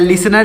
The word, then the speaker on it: listener: उच्चारण नहीं होगा, यह टी साइलेंट है तो हो जाएगा लिसनर।